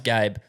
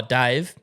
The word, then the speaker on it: Gabe: at work all time hey my name's Gabe oh Dave no Gabe gab Gabe like I'm